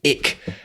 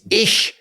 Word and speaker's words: ich: she'd always say oh people who say ick it gets ish ish not ick eat khyber it kyber